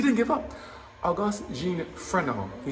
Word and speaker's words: Fresnel: Augustin Jean, Augustin or Jean Jean Frenon, pronounced is Fresnel, F-R-E-S-N-E-L, but it's pronounced Fresnel, was born in France in 1788.